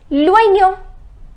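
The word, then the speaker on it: l'oignon: This is loignon. It is loignon. Remember I told you the pronunciation of OI is OUA. So it is loignon, which means the onion.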